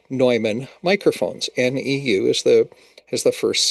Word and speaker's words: Neumann: Nutric, Neumann.